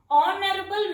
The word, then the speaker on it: honorable: Next one, he is not dash honorable man. Honorable. Here H is silent.